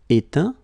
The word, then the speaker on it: éteint: Éteindre, éteint. Feindre, feint. Peindre, peint. Teindre, teint. Okay, as usual, final T not pronounced.